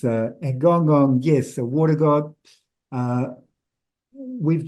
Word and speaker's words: Gonggong: I tend to say Gongggonng. It's not how it's pronounced it's Guangdong in Chinese.